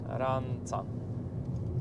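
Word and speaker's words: Rânca: I właśnie wjechaliśmy do miejscowości Rynka. Czyta się ranca, znaczy pisze się, przepraszam.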